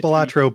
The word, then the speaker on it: Balatro: and I'm glad to see, is it pronounced Balatro? Mm-hmm. Yeah. Or at least that's all I've always been pronouncing it. Perfect. It's pronounced Balatro by me, That's enough.